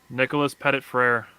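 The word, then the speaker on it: Nicholas Petit-Frere: Nicholas Pettit-Frere.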